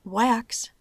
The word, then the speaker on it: wax: Pero no podemos decir que por empezar con una B doble se hace la excepción, porque la palabra wax se pronuncia con la A corta.